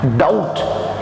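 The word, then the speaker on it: doubt: Next let's move here, the word is written here, किसी पर शक, डाउट। इंग्लिश में आप देख रहे होंगे इसमें बी साइलेंट है, यस of course he silent रहता है।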